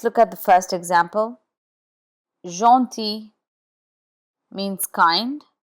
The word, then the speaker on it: gentil: Gentil means kind. Here the G is in front of E and the final L is not sounded. Gentil, gentil. Aubergine, aubergine is eggplant and G here is in front of I.